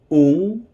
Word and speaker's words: un: Masculine, un. Now remember, for us, this un is going to sound like it has a soft G after the N in English.